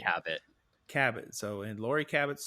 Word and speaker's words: Cabot: And I apologize to Lori if she listens to this, but is it Cabot or Cabot, or how does she pronounce that last It's name? Cabot.